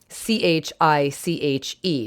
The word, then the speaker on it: chiche: CHICHE. Now again, different sounds for the CH. In French, it's chiche. It's a soft SH sound, and that's chiche. And it was expanded in French to pois chiche, right?